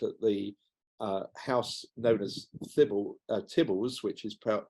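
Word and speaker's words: Theobalds: It was rebuilt at the house known as Tibbles, which is pronounced Theobald's, and you can still see it there to this day.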